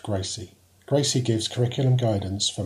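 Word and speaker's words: GRCSE: is The Graduate reference curriculum for systems engineering pronounced Gracie Gracie gives curriculum guidance for Master's programs in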